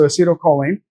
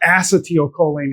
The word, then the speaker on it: acetylcholine: So acetylcholine or acetylcholine if you learn it from a biochemist. Um they may they they pronounce it differently.